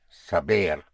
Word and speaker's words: saber: To uh to know is to have sav saber spelled s a b e r saber.